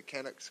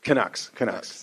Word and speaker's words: Canucks: Yeah, how you pronounce it? The Canucks. Canucks.